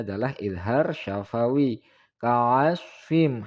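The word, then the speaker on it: كَعَصْفٍ: Ka'asfim, hati-hati shod keliru dengan huruf sin. Ka'asfim.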